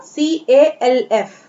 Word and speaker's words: calf: What, H is silent here, calf, L is silent here, CALF, we will not read it calf, हम इसे calf ना पढ़ के क्या पढ़ेंगे?